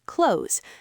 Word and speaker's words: clothes: We just pronounce it exactly like the word close, as in close the door.